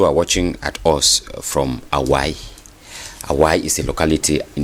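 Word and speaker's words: Awae: À Hawaii. No, Awai.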